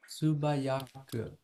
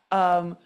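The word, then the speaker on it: 素早く: Tsubayaku. Tsubayaku meaning swiftly. You're right. That was hard to hear. Subayaku 100% does mean swiftly. I said tsubayaku, which, so I'm not pronouncing right.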